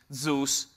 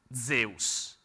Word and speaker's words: Zeus: Oh, basically, while I'm at it, actually, it's called Zeus, not Zeus. Zeus is American version of the pronunciation.